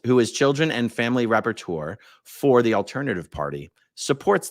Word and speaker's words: rapporteur: Google says it's pronounced rapporteur.